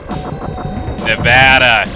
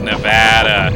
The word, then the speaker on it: Nevada: Nevada. It's pronounced Nevada, not Nevada.